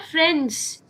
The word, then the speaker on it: friend's: are currently in your friend's room. That Mm-hmm. S, apostrophe S after friend, that needs to be pronounced.